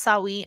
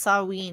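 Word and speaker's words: Samhain: treat wa hold already I thought it was it was like pronounced sawe that's how I've heard it it say sawin sawin so we'll say sawin or saween either way if somebody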